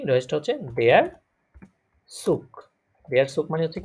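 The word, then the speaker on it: Zug: এটাকে সুস ভুল হবে ভাইয়া না না, সুস সুশ না, সুশ হবে না, ওই আপনি ওই যে সোয়ান সিশের মতো উচ্চারণ করতে চাচ্ছেন তাই তো? জি অমন অমন হবে কিনা না না, অমন হবে না, দেয়ার সুক, সুক সুকই হবে।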